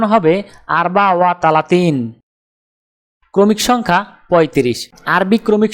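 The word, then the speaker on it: أربعة وثلاثون: আরবি ক্রমিক সংখ্যা 34 দেখতে এরকম, উচ্চারণ হবে আরবা ওয়া তালাতিন। তাহলে 34 ক্রমিক সংখ্যাটির আরবি উচ্চারণ হবে আরবা ওয়া তালাতিন।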